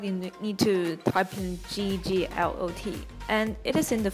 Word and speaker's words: Gglot: It's spelled G-G-L-O-T, and you can also click the links in the description.